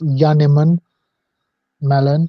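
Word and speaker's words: Janneman Malan: letting us know that it's pronounced yanim melan J is pronounced as Y in Africans well in u j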